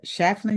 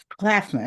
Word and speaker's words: Claflin: A proud graduate of a Chafflin University. Did I say it right? Chaplan. Claplin. Claflin.